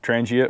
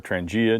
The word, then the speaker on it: Trangia: So what I got for you today is a Trangia, or Trangia, depending on how you want to pronounce it.